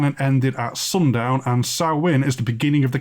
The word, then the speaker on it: Samhain: It looks like it's spelt as Samhain, but it's pronounced Samhain, as the native languages of Albion aggressively resist English.